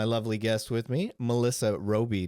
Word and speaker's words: Robey: guest with me Melissa Roby did I pronounce that correctly you did thank you that could be real bad whatever you want Ro Bay okay we can we